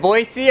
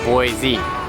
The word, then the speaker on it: Boise: though they say no it's a French word it should be pronounced Boise so my suggestion is